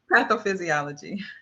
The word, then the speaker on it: pathophysiology: Now, what was that word that I just mispronounced? Pathophysiology.